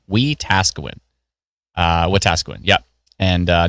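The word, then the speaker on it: Wetaskiwin: Oh, I got to really emphasize the task. We Tasawin uh Watasuin.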